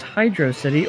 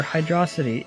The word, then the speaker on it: Hydrocity: yay tidal tempest asks is it pronounced hydrocity or Hydra City it is confirmed that it is hydro city but I will continue